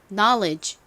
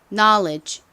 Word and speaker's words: knowledge: 소리로 쓰였습니다 그리고 끝에 dge 소리가 나죠 그래서 발음해 보면 knowledge 됩니다 자 지식 발음 따라해 볼게요 knowledge 한 번 더 해 볼게요 knowledge 오케이 자 한번 같이 적어 보도록 하겠습니다 가장